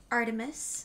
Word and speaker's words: ARTMS: eclipse this band is called Artemis I've learned that's how you pronounce it Artemis yeah I thought it was an acronym I